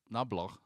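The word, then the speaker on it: Knoblauch: So his name is pronounced Nablau.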